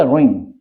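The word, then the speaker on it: wring: Friends, W के बाद अगर आर आता है, अगर डब्ल्यू के बाद आर आता है तो डब्ल्यू मतलब साइलेंट हो जाता है। ये शब्द हो गया रिंग।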